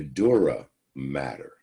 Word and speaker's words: dura mater: layer is called your dura mater it's spelled with one t but is still pronounced matter the dura mater the middle membrane is